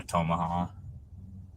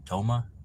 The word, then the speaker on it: Tomah: that if you saw tomaha I don't think that's how you pronounce it Toma it's probably Toma not tomaha toma Wisconsin um that